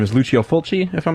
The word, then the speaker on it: Lucio Fulci: I believe the pronunciation of his name is Lucio Fulci, if I'm not mistaken.